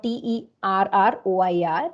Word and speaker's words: terroir: And in French, they call this particular feature the link between the place and the product as terroir, or Terroir. It's pronounced terroir.